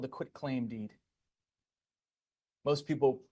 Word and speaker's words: quitclaim: It's called the quitclaim deed. Most people mispronounce this. They say quick claim. It's not quick, it's quit claim.